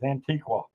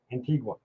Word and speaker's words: Antigua: I might learn how to pronounce it one of these days. Antiqua. Antigua. Yeah, there we go. Antigua.